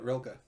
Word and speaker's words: Rilke: Um, and Bukowski, and then Rainer Maria Rilke. I don't know how you pronounce it. Yeah, you got it, Rilke.